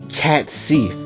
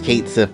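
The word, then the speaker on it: Cait Sith: You had the boy Cat Sif, which was, freaking great, honestly. I know his name is Kate Sif, but it's gonna make me pronounce his name differently every time, so just bear with me.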